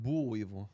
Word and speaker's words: boll weevil: They have a boll weevil monument. Wow. what? A boll weevil? I don't know if I'm pronouncing that. That animal. You think Yeah. it's actually pronounced bull weevil?